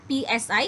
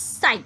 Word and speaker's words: psi: That is spelled as psi. It's not psi, it's psi, okay.